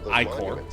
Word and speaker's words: ichor: Yeah, it technically is pronounced ichor. But, saying ichor is more fun.